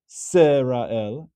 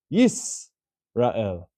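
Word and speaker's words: ישראל: But we don't pronounce this as Shema Yisrael. It's not a Sheva Na. It's not the same as Shema Serael. It's closing the syllable, and it's actually Yisrael.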